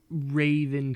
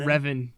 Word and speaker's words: Revan: them there's only one who's truly my favorite Raven comes to mind but I don't know where forever Revan dark Darth he can't even say it right